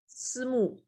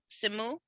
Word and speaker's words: Simu: I've never heard his first name pronounced. Simu. Simu?